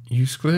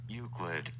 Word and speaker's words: Euclid: form of mathematics how do you say this you split i don't know is there like a pronunciation pronunciation euclid useless you ready this is freaking youtube that's what you say euclid oh i was right there that's what i